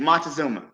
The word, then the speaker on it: Montezuma: of the Aztecs I'm probably gonna say his name wrong Montes thank you thank you Montezuma so in this documentary Tariq really tried to